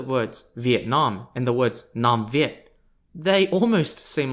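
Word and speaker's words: Nam Việt: n-a-n-y-u-e the nanya kingdom is known in vietnamese as the namvi spelt n-a-m-v-i-e-t i also reckon that's where vietnam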